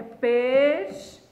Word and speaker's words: pesquisa: Porque o U não é pronunciado, o U não é pronunciado, o U não é pronunciado, o U não é pronunciado.